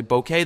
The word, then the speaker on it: bokeh: is what it is some say boka some say bouquet there's no right or wrong way to say it we just say it